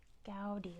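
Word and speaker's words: Gaudí: designed lasag Familia good it's gy they pronounce it Antony gy let's spell that out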